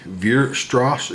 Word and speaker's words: Weierstrass: Now, some might pronounce the W more like a V, Weierstrass M Test, but I'm going to call it Weierstrass.